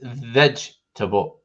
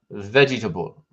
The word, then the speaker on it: vegetable: canada not living in oh it's vegetable not vegetable there's no extra e syllable there and it's not comfortable